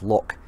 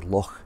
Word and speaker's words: Loch: in this case Lochranach, a lot of people pronounce it as Loch. It's actually Loch. You've got to let your kind of tongue roll on that one.